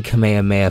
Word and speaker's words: Kamehameha: Omaha was based on King Kamehameha from Hawaii so before England says that I'm not pronouncing it right kamehameha technically is our correct pronunciation of kamehameha and even said in